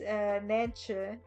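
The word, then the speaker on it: Nijntje: No, it's Nantje. And yeah, it's like ch.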